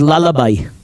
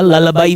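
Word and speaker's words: lullaby: ललाबाई means लोरी. जब एक माँ बच्चे को लोरी सुनाती है उसको अंग्रेजी में ललाबाई बोलते हैं. ललाबाई. इट्स नॉट ललाबी, इट्स नॉट लुलाबी, इट्स ललाबाई.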